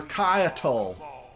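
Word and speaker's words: Caiatl: I've been pronouncing your name wrong this whole time, Kaiatl. You're Kaiatl.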